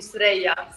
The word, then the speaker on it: Suerraya: Now, I want to make sure I'm pronouncing it correctly. Suerraya, correct? That's the American way, yes, Suerraya. Okay. But the real traditional way would be Suerraya.